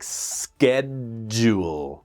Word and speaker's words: schedule: So the spelling of schedule is a little strange. Really, it's almost like schedule. Schedule, two syllables.